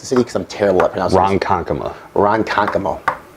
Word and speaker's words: Ronkonkoma: sport we're actually here in I'm not even pronounce it iike saiman khan coma Ronkonkoma right Ronkonkoma whatever it's all the same dude what's up